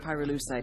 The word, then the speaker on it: pyrolusite: You know what pyrolusite is, right? Yeah, neither did I. Pyrolusite, key syllable pyro, by the way, is